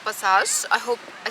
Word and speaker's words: Paysage: Paysage is the name of Gigi's organization. This is the correct French pronunciation according to my research.